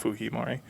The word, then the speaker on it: Fujimori: you guys are trying to look up alberto fuhimari it's the japanese name fujimori but obviously because he is latin american culturally they pronounce it fujimori um also the history of japanese immigrants to